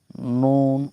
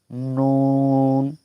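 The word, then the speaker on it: نون: শুধু তালুর সঙ্গে লাগাবো। নুন উপরে আমরা দাঁতের গোড়া না শুধু তালুর সঙ্গে লাগাবো। নুন।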